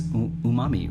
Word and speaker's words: umami: Yeah, it's umami, right?